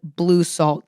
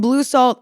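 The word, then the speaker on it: Bleu Salt: I will say my favorite brand for this uniform is the brand Blue Salt. It's spelled B L E U S A L T.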